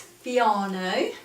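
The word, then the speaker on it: Fiano: a girly chat it's fiona to rhyme with piano posh piano it's from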